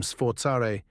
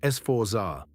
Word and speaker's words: Sforza: Sforza means force, from sforzare, to strain, to take by force. And one letter changes everything here. Americans say Sforza. Italians say Sforza. A Z in Italian sounds like TS, give it a go.